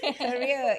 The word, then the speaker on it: Keria: Jangan salah pronounce bukan KS. Keria is Keria.